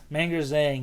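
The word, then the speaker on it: Meng'er Zhang: Manger Zhang. Manger Zhang, yeah, she just comes out and immediately dominates that fight.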